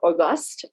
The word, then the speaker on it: Auguste: uh byron auguste uh auguste i think is is the pronunciation from opportunity at work